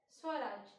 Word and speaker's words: Swaraj: Swaraj.